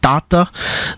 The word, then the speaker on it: tata: Tata means father, basically, and it also means father, or I think sometimes uncle, in Slavic languages, but it's pronounced tata, and it's spelled T-A-T-A instead of T-A-T-E as